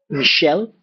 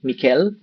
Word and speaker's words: Michel: because of the name so Michelle when it is actually Michel Mikel Mikel okay or different p jeene